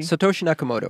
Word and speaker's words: Satoshi Nakamoto: guy how do you say his name Satoshi Satoshi Nakamoto Satoshi yakamoto have you met this cat no